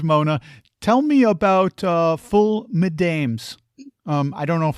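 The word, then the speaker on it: ful medames: Um, speaking of fava beans, Mona, tell me about uh full madames. Um, I don't know if I'm pronouncing that correctly. Madame. Yes. Full madame.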